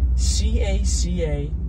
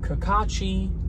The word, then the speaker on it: Cacace: that's going to be, can be pronounced about 15 different ways, C-A-C-A-C-E, Cacace, Cacace, however you want to go about that.